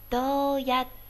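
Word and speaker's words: どうやって: 半大小，这个叫促音哈。你们听，どうやって。对，我中间是不是顿了一下呢？这个就是做促音的作用哈。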